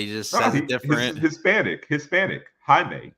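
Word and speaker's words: Jaime: it was like a Jamie but he just different Hispanic Hispanic Hae it's spelled Jamie it's Hae because I like think like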